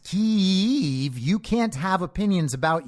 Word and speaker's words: Kyiv: If you don't know that it's pronounced Kyiv, you can't have opinions about Ukraine. They can tell you're on the other side because you say Kiev.